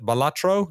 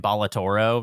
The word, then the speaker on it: Balatro: Balatro? Is that how you say it, Jeremy? Yeah, I keep calling it Balatoro.